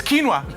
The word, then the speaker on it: quinoa: It's quinoa. It's spelled like very, very, very foreign, but it's quinoa.